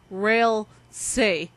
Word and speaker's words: Ralsei: they're online trolling and most likely this character's name is pronounced as rail say because of the spelling